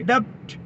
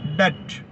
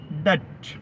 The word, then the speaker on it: debt: ഡെപ്റ്റ് എന്ന് എഴുതുന്നു, പക്ഷേ ടി സൈലന്റ് ആണ്. ഈ വാക്ക് വായിക്കേണ്ടത് ഡെറ്റ്. ഡെറ്റ്.